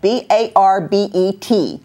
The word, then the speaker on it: Barbet: And then my other guest is Sally Birgl, and she has a Barbet, which is spelled B-A-R-B-E-T, but it's French, so it's Barbet, right?